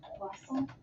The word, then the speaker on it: croissant: Actually pronounced croissant.